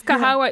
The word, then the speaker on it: Kahawa: of kahawa yes and people know how to pronounce it as well yes yes and not kahwa coffee yeah we don't want that just kahwa and you